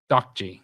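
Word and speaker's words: 딱지: Ddakji is how you pronounce it.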